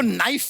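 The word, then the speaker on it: knife: सलमान जी आपको नाइफ word मालूम है? नाइफ। हाँ। उसमें शुरुआत में जो के होता है, हाँ। वो क्या है? साइलेंट।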